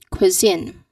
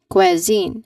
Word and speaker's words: cuisine: Now the common mistake is uh that people do is quine. Quazine.